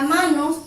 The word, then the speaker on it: manos: Si nos fijamos en la palabra manos, separamos en sílabas. Manos, se carga la voz sobre la A.